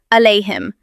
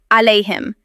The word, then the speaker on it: عليهم: This is very common and some people replace the ayn with hamza and will pronounce it as alayhim. But the correct way is to say it alayhim and not alayhim.